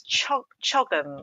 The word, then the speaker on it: CHOGM: It's CHOGM, I think it's pronounced. So it's the Commonwealth Heads of Government meeting, and this is October the 21st, and it's so important.